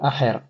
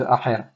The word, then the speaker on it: Acher: Ve'en od Acher. Attention à pas oublier de prononcer le Aleph de Acher. Et pas dire Ve'en od Acher.